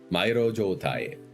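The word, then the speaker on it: 迷路状態: God, what is the pronunciation of that? I know it's Mai. Mairo Joutai.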